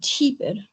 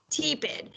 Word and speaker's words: tepid: separated it after the e how would we pronounce that word um cheapid tepid so it is correctly pronounced when it's tepid